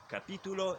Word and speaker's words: capítulo: And both of these words have the accent on the second syllable, which is kind of strange in Spanish.